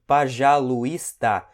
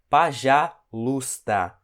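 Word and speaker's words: пожалуйста: você você pode ver que aqui tá escrito pajalusta só que esse e ele não é pronunciável é como se ele não existe isso aqui ok então a gente pronuncia apenas para já luta não tem esse pajalusta foi por isso que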